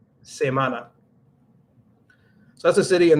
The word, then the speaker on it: Samaná: the chat here is Samana but it seems like weak in Spanish but it's not so I always have to make sure I pronounce that correctly Samana Samana not Samana Samana so that's a city